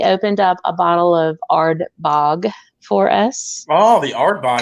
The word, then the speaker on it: Ardbeg: And I have to say, and I've always said Ardbeg, but they kind of like put the accent on the second end of it, like Ardbeg, like for more and Ardbeg.